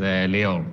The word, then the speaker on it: Lior: How do I pronounce your name? Hey, my name is Lior.